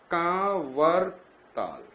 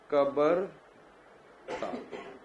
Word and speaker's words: कांवर ताल: तो यहां पर भी क्या है, कांवर ताल, सो they can say like कबर ताल.